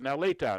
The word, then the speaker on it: Nellita: I wrote Nell Lita, and I said Nellita, and she said you have it right.